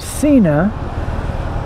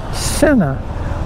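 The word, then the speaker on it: Sinna: name of the company, and I have been mispronouncing it for years. I've been calling it Cena, and apparently the real name of the company is Cena, like S-I-N-N-A.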